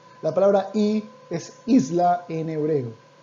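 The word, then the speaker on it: אי: muy muy sencillo muy austero y la palabra y es isla en hebreo y se escribe de esta manera aleph you'd leave you esta palabrita aquí que ustedes ven se pronuncia y y eso significa isla ahora está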